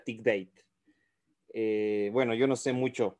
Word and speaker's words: Thick Data: Bienvenidos a este nuevo video que titula Tic Data, o si no, una pronunciación para los que saben inglés sería Tic Date.